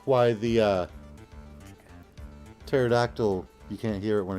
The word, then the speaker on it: pterodactyl: like why the uh pterodactyl you can't hear it when it goes to the bathroom cuz the p is silent I was going to